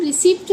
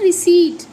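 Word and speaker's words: receipt: ठीक है, इसका प साइलेंट होता है।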